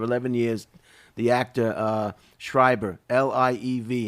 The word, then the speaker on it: Liev: her partner of 11 years, the actor Schreiber, L-I-E-V.